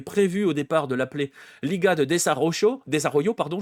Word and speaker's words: Liga de Desarrollo: On avait prévu au départ de l'appeler Liga de Desarrollo, pardon, je vais le prononcer à la mexicaine, ligue de développement, hein, concrètement.